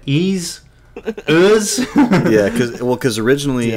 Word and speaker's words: Ys: my first pronunciation I I looked at like Ys is that ease yeah because well because